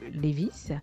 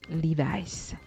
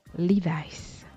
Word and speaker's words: Levi's: Eh bien, oubliez votre bon vieux Levi's. Il faudra plutôt dire Levi's. Levi's.